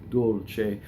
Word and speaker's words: dolce: any notes in Italian the word piu is a strong mono syllable and it will cause the D in Dolce to double C so we say Dolce now when you do